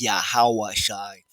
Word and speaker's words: Yahawashi: Holy tongue lwan kadash phonetically pronouncing it correctly righteously sounding it out his pronoun name is yahawashi yahawashi he is salvation